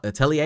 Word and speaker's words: atelier: one point in the anime, and they said atelier, and I was like, okay, that's how I